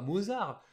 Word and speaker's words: Mozart: Bah oui, nous on dit Mozart parce qu'on le voit écrit Mozart, on dit bah Mozart. Mais non, c'est un prénom autrichien, donc allemand, qui se prononce bien à l'allemande Mozart.